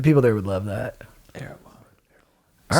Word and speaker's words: Erewhon: How do you say Air One? Erewhon. Erewhon.